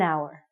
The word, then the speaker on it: hour: say the H word it sounds like we're saying our so because this word our sounds like a vowel because you H is silent we have to say an hour okay you got it